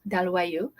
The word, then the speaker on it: Dalloyau: Okay, is how you spell it. It says Dalloyau. Okay, Dalloyau.